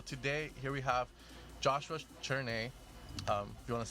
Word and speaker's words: Cherney: Cherney, right? That's how you pronounce it? Cherney, yes. Cherney, all right.